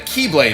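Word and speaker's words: χ-blade: explosion from when the keyblade was destroyed yeah means the x-blade it's just pronounced like keyblade even though it's just one keyblade ah the series is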